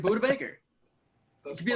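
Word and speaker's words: Budda Baker: you say it though do you say it like buddha baker or you say like buddha baker just like peccarine it's buddha baker the longest time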